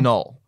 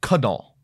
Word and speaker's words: Knull: It is null. Right. We know that for a fact. But a lot of people up front were arguing that it's Knull. Like that was an actual argument.